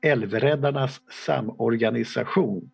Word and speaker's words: Älvräddarnas Samorganisation: Association, or in Swedish, now we have a small lecture how to pronounce this, Älvräddarnas Samorganisation, as it is pronounced in Swedish.